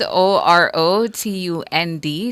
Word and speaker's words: orotund: Your word of the day spelled O-R-O-T-U-N-D, spelled O-R-O-T-U-N-D. Orotund. Orotund. Orotund. Your word of the day is pronounced orotund. Orotund, it's an adjective.